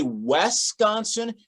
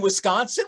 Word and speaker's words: Wisconsin: At least you didn't say Wisconsin. That's like one of the biggest clues that someone's not from around here. Put the E at the beginning. We're all like, well, there's no E in Wisconsin.